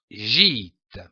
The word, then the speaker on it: gîte: Il se prononce comme un I long, comme par exemple une île, un dîner, un gîte.